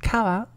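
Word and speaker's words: 川: Next up we have river, which is pronounced kawa.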